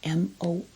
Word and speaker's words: Morphe: And I add a little bit of, and it's a good product, Morphe, M-O-R-P-H-E, pronounced Morphe.